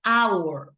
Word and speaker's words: hour: And remember, because we say our, right? So even though we have the H, we pronounce vowel, ¿verdad?